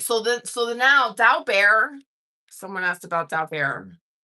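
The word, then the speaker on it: Daubert: And then if you want to pronounce it, it's like dao like the stock market and then bear like the animal dowo bear.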